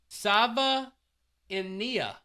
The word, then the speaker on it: Savaiinaea: We've got an official pronunciation here. Savaiinaea.